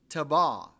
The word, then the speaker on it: Taberah: Now, if you look at it, it looks like it's Taberah. It's pronounced Tabah, because the fire of the Lord burned among them.